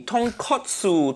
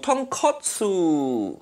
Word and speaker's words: tonkotsu: out of myself so tonkatsu mean fried piece of pork that completely different thing say it properly tonkotsu tonkotsu i've already started a